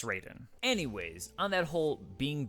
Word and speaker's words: Raiden: damn got him next we get to Ryden Raiden okay it's spelled Ryden usually and it's based in Japanese meaning it should be Ryden but it's Raiden anyways on that whole